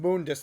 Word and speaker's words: Mundus: I believe it's pronounced Moondus there, buddy, but whatever, you do you.